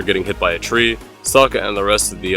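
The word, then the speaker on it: Sokka: a lost little girl Saka unironically Rhymes his name with rhymes with waka waka kill me waka waka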